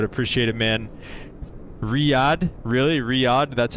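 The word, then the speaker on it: Riyadh: Riad, that's how you say it.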